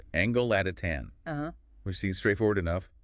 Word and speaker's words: Angolatitan: So, starting right at the beginning, the name Angelatin, pronounced Angelotatan.